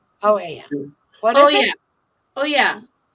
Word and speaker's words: Oia: It's pronounced it with an E, that the OI sound in Greek is an E.